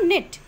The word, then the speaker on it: knit: Now knit. It's a K silent over here.